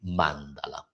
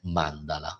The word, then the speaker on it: mandala: per chi fosse interessato la corretta pronuncia è Mandala e non Mandala come dicono quasi tutti lo so che è